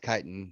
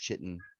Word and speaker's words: chitin: chitin chitin on the kitten chin no it's pronounced chitin Mass Effect how does that come here come